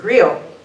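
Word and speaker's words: griot: i o t and I think you pronounce it GRE and in probably now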